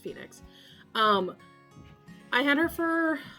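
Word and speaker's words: Fae Nyx: about getting it um I named her Phoenix or Fey Nix f-a-e yeah NYX um let's pronounced Phoenix um I had her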